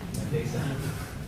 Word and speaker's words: Landesa: And then we'll go to Landesa, if I've pronounced it correctly. Very close. Landesa.